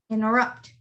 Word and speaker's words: interrupt: one is interrupt interrupt the t is not pronounced it's just interrupt interrupt the next one is